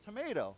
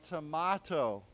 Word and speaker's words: tomato: So in America we say tomato, right? But in England or in Britain they say tomato.